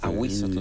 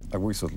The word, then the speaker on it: Ahuizotl: A Huizotl se pronuncia, ¿verdad? Sí. A Huizotl, monstruo del agua.